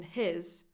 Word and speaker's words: his: No H in his and a strong H in house. But again, what else could it be if not his?